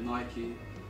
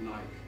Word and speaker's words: Nike: I know some people pronounce it Nike, but it's definitely Nike.